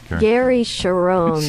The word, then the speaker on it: Cherone: How do you pronounce his name? Gary Cherone? Gary Cherone.